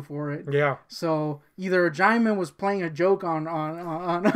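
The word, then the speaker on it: Djimon: That's how you say his name, Jaimin, not Jimon. Yeah, we always thought it was Jimon Hanzo. We were super wrong.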